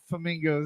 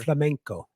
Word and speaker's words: flamenco: But no, I don't know anything about flamingos. In fact, I was going to ask you, Sean, what is it? Is it pronounced flamingo or is it pronounced flamingo or whatever? Flamenco. Flamenco. Flamenco. Okay. Flamenco. Yeah, it's actually a gypsy